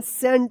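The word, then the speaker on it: scent: एस सी ई एन टी इसको क्या पढ़ेंगे? सेंट पढ़ेंगे। यहां पे सी जो है ना साइलेंट रहेगा।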